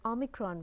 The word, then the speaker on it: omicron: the greek alphabet and the real correct pronunciation is o micron so ah for convenience